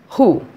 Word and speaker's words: who: Then second rule, if a word starts with WH, there also W is silent. For example, who, WHO, who.